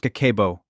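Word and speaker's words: 家計簿: It's called Kakeibo, pronounced Kakeibo, and it translates directly to household financial ledger.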